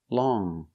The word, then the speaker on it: long: let's take a look with long we use the NG sound in our nose long we don't say long